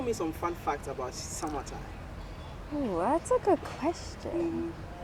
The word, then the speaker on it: Samatime: some fun facts about Samatime. Ooh, that's a good question. Well, Samatime is broken down to Sama because my close family calls me Sama, short for Samara, and it kind of rhymes with summertime.